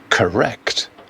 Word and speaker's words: correct: The final syllable, the second one, is an unstressed doctor. And correct, correct.